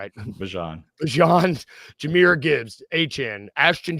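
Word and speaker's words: Bijan: Is it Bjon? I want to make sure I'm saying it right. Bjon.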